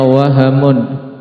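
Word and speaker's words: وَهَمٌ: Maka diingat-ingat untuk yang seperti ini berarti bacanya wahamun dengan menfathah.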